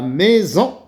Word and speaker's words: maison: une source la maison s entre deux voyelles la première voyelles oui la deuxième fois l eau s se prononcer la maison je répète l'exercice numéro